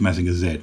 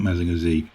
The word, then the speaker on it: Mazinger Z: And by the way, American viewers, it is pronounced Mazinger Z, not Mazinger Z.